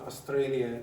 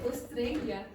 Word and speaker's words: Australia: There are exceptions. You say Australia. Australia. Australia. Australia. Okay? So, but when I say the R's are not pronounced, I mean at the end of words, okay, or at the end of syllables.